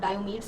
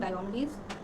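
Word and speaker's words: Diomedes: Doctor of that place, डायोमिडीज, मैं ट्राई कर रही हूँ उसका ग्रीक नेम प्रोनाउंस करने, सो दैट्स नॉट डायोमीड्स और समथिंग, डायोमिडीज।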